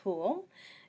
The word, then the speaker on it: Hol: with you so um my name is Mrs Hol and you can remember how to pronounce it because it rhymes with pool and obviously I'll be your